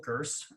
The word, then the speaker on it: Gurss: Well, I'm Gurss, hard G.